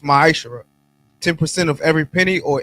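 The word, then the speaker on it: מעשר: Means tenth in the Hebrew and pronounced ma'ashara.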